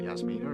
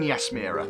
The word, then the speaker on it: Yasmira: It's not Yasmina, is it? I can't say her name. Yin Yasmira, that's it.